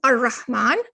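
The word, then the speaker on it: الرحمن: Notice how here you do not pronounce the lam in the al here. You're going ar-Rahman, ar-Rahim.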